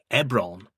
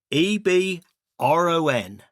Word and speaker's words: Ebron: Ebron. And I remembered n how to spell it. E b r o n.